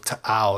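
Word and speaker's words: T'au: we found out that both glottal stop and guttural stop are both correct in different ways. So, very fun thing to learn about that weird symbol in the middle of ta'ow that makes you pronounce it stupid.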